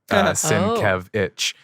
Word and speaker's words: Sienkiewicz: Thank you for your website, Bill, because he actually pronounces it in his logo. Sienkiewicz.